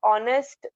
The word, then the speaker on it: honest: Okay, so honest man, when we spell an honest, so we consider H as being silent, and we take O in consideration to make it a vowel.